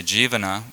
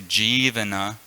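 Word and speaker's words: jīvana: He was saying that if you say Jivana without the long I, it means the spiritual master has a large tongue that licks the whole world. But if you say Jivana, which is the proper pronunciation, the spiritual master delivers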